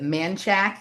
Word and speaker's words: Manchaca: There's a street here in Austin, not too far from where I live, called they pronounce it Manchac, even though it's spelled like Manchaca.